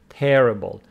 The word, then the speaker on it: terrible: So stress of terrific falls on the second syllable, terrific, but the stress of this one falls on the first syllable, making it terrible.